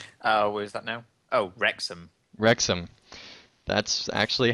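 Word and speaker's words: Wrexham: traveled from Cardiff to W how do you pronounce that atos uh is that now oh rexam rexam that's actually how it looks cool sharing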